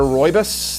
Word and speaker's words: rooibos: You can try our mango treat, peach paradise, apple cider rooibos. That's how you pronounce that. I had to learn that.